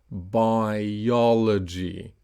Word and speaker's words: biology: Notice uh so so for example in biology the I and the O are both clear. So it's biology. I O. So notice the dot between the two vowels. So that's a dot. This dot separates the syllables. Usually the second clear vowel has the stress.